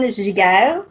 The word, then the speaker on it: Giguere: It's going well, and you did a great job pronouncing my name, so congratulations. I definitely heard the French accent in that one.